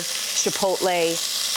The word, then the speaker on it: chipotle: Chipotle. Chipotle. Not chipotle. Chipotle.